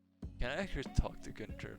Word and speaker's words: Gunther: But yeah, it is Gunter or Gunther. It kind of depends on how you pronounce it. But I just say Gunter.